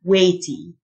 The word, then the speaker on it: weighty: silent weight ثقيل الوزن weighty الجه silent weighty synonyms and antonyms يركز